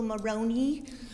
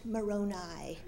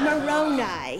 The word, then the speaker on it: Moroni: sure can you tell me about the angel Moroni I correct him it's pronounced Moroni well this is Back East i' say you're still pronouncing it wrong it's Moroni he's not a top of pasta he's an